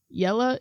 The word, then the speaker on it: Jelle: called yellow's marble cast yella is spelled with a J it's a guy from